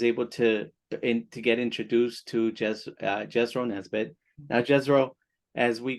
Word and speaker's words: Jesro: That's I usually say it like this: Jesro and not Jethro, Jesro, not Jethro.